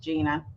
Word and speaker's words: Jeana: It is Jeana. It's pronounced Gina because, got to be different.